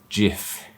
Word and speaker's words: GIF: nfts they're more than just a jpeg or jif and i'm saying jif here because the creator